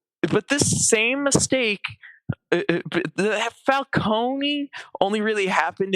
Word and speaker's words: Falcone: pieces of Batman media is fal cone because that is how it's supposed to be pronounced because uh because it kind of spells cone as in like an ice cream cone. But they have Falcone so that they can make it sound more Italian and fit in a